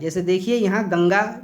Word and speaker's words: गंगा: यह ध्यान में रखेगा अनुस्वार का उच्चारण जब भी होगा हवा नाक से निकलेगी जबकि अनुनासिक के उच्चारण में हवा नाक और मुंह दोनों से निकलती है तो जैसे गंगा गंगा में अनुसार लगा है गंगा आप बोल कर देखिए ध्यान से एकदम गंगा तो हवा नाक से सिर्फ निकलेगी लेकिन